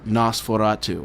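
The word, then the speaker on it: NOS4A2: with was called uh nosferatu and it's spelled nos4a ii oh okay because it's a license plate okay okay um and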